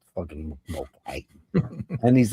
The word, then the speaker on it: Mulcahy: And this guy was pronouncing it Mulcahy. I was like, what are you fucking Australian? Stop it. Fucking Mulcahy.